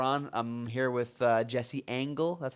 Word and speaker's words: Angell: I'm here with Jesse Angell. That's how you pronounce it, right? Angell.